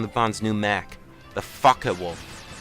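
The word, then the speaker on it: Focke: We'll have more than enough weapon energy to take down the Bond's new mech, the Fckin Wolf. No, I didn't say the F word. It's spelled out F-O-C-K-E, Wolf.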